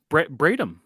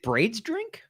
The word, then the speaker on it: Bradham: Bradham. Brad. Oh, Brad is part of his last name? Mm-hmm. So is it Braid's drink? No, it's Brad. It's Bradham. Bradham. Like that's how it's spelled.